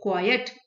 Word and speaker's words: quiet: है quite, एक है quiet. ET is pronounced as quiet. We pronounce क्वाइट with the final E T made clear, emphasis हमको ई टी पे देना होता है.